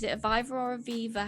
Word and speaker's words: Viva: Is it a Viva or a Viva? How do you pronounce it, Moiz?